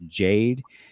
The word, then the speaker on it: Jade: I believe his name is pronounced Jade.